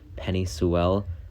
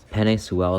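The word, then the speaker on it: Penei Sewell: the miami dolphins like penny sewell offensive tackle organ sorry i said that dude's name wrong penny soel is just an absolute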